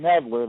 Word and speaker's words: Knedler: Auditor of State, and Kevin Nedler, that's spelled Knedler, for Secretary of State.